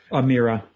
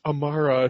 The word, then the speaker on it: Amara: It's pronounced Amara to the inner circle. Right. No, it's a long eye.